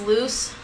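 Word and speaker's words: Luz: so that's basically loose it's l-u-z for anyone who wants to know how to spell it because i actually do not know how to spell her name for like the longest time yes so that's how you say it it's loose and then next we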